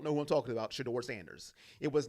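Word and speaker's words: Shedeur Sanders: for one man, and it rhymes with Medor Manders, okay? If you don't know who I'm talking about, Sheduer Sanders.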